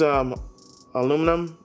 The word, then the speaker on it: aluminum: use, they both use aluminum or aluminium, whatever way you guys pronounce it.